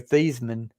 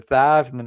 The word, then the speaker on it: Theismann: And a lot of people don't realize his name is actually Joe Theismann, but he changed it to Theismann in college to rhyme with Heisman because they were pushing him to win the Heisman as quarterback at Notre Dame.